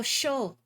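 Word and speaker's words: chaud: not a hundo oh show that's how you say hot in French that's right I don't remember if you pronounced the D you probably don't because the French language loves unnecessary consonants you know I'm right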